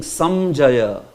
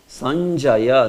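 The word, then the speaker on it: सञ्जय: You are not saying Samjaya. There is no ma there. Sanjaya. Nya is there. Sanjaya. Say Sanjaya. Yeah. So Sanjaya, it has that nya is there, but it is like quickly pronounced. So Sanjaya. This, if this would have been an anuswara, then you would have pronounced it as Samjaya. Sam.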